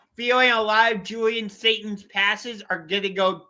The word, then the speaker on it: Sayin: Julian Julian Satan. Satan. Sat like Satan if you get dragged down. Okay. Okay. I have a feeling a lot of Julian Satan's passes are going to go towards Jeremiah Smith.